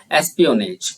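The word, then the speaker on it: espionage: एक जासूस हूँ, डीलिंग इन एसपी, यार इसका प्रोनाउंसिएशन देखते हैं एक बार, एस्पियोनेज, ठीक है, बिल्कुल ध्यान से इसको देखते हैं।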